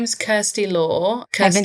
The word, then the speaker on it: Kirsty: So, my name is Kirsty Law. Kirsty saying it wrong. Don't worry, half of my family are American and um my dad calls me Christy even though he knows my name is Kirsty.